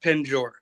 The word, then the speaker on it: penjor: So, pent jaw or and actually there's there's really not a T in there.